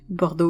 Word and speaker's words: Bordeaux: Bordeaux is the French version of the pronunciation.